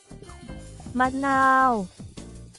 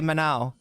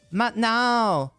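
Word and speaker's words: มะนาว: you can't just say manau. You got to say mnau, right? Cuz that second um that second vowel is like a long vowel.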